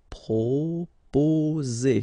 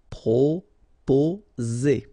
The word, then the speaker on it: proposer: Proposer, okay, so proposer, remember, two vowels here and only one S, so you will get the sound Z, okay, proposer.